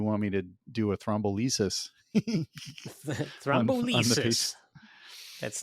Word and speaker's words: thrombolysis: And he's like, well, do you want me to do a thrombolysis?